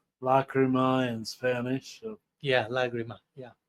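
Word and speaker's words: lágrima: So yeah, lagrima. Yeah. Lagrima. You pronounce it like a G, lag? Yeah. In Latin it's lacrima and in Spanish is lagrima.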